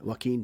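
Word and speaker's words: Joaquin: me again so what how how are you pronouncing the name of the actor waim Phoenix W Phoenix okay few thank God for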